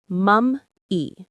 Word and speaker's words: mummy: The stress is on the first syllable, mum. Say it with me. Mum-E. It's like the word mommy, but referring to the ancient preserved body.